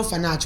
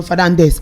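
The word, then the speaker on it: Fernandes: I am Bruno Fernanch. We call him Bruno Fernandez and his real name is Bruno Fage.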